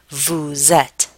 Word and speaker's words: vous: I told you that the s in the word Vu is silent I pronounced it make this note that the S of the subject pronoun Vu is pronounced as an English Z in the phrase vousette this is called a liaison and it's represented here